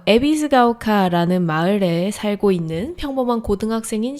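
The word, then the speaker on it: 戎ヶ丘: 마을 이름이 어려워서 발음하기가 조금 힘들긴 한데 에비스 오카. 에비스가오카.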